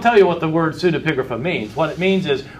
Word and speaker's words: pseudepigrapha: Scholars tend to call these things pseudepigrapha. Pseudepigrapha is spelled with a P in the front, pseudepigrapha, P-S-E-U, pseudepigrapha. They call them this because they don't want to call them forgeries.